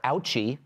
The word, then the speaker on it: OUCHI: Well, the Office of Climate Change and Health Equity, or OUCHI, rhymes with Fauci, wants to scold you.